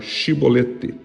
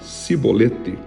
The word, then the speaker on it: chibolete: Por isso, quando algum homem queria passar pelo rio, deveria falar a palavra chibolete como o som de X. Mas quem falasse cibolete com som dess era morto na mesma hora.